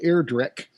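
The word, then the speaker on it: Ayrdrek: y a-y-r-d-r-e-k thus it took me a second to decide how to pronounce that i'm gonna go with air drake all right eric is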